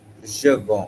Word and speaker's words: je vends: Okay, see, when you were pronouncing this, je vends, Yeah.